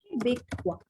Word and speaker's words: québécois: Sometimes, basically, the O and I, you can pronounce it wa. Okay, like a W-A, wa.